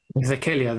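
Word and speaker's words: Dhekelia: How do you pronounce it? Dekele? How do you say it? Vekelia. Vekelia. That's got its own.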